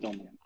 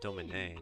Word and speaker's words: Domini: I pronounce it Domini. But. Yeah, not Domine. Domini.